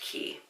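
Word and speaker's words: Quay: it's quite Australia but I'm pretty sure that word is pronounced key there are seven different designs available and they all retailed for $65 u.s.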